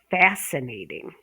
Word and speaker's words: fascinating: Fascinating, fascinating. I find pronunciation fascinating. So we're going to go with the stress on the first syllable, but there's how many syllables?